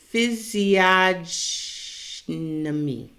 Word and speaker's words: Physiognomy: How the hell do you even pronounce it? Physiognomy.